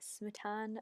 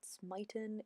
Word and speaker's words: Smitan: So the reason I'm pronouncing it Smitan and not Smitan is because I felt Smitan sounds a little bit like smitten, and it's a bit more feminine sounding.